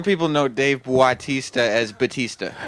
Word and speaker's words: Batista: Some people know Dave Bautista as Batista. Right. Bautista. How do you Yes. pronounce it? Batista.